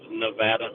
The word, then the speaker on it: Nevada: you please remind Matt that the Craig from pronunciation is Nevada Nevada um I I agree that the election